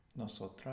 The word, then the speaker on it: nosotras: nosotras, Nosotras. Nosotras. Good. You pronounced an S there, which was very good.